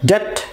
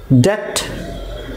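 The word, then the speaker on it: debt: আচ্ছা নেক্সট যে ওয়ার্ড সেটা হচ্ছে যে এখানে বিটা সাইলেন্ট থাকবে, ঠিক আছে, তাহলে এটা হবে ডেট, ডেট, ডেট, রাইট। এটাকে বলবেন ডেট বলেন তাও ভালো আছে, বাট বি বলিয়ে না, ঠিক আছে, ডেট।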